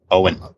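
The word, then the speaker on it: Eoin: oh I'm gonna sit huh his name is Owen I learned this oh oh that's how you pronounce e oh I n yep Owen okay there you go thank you for correcting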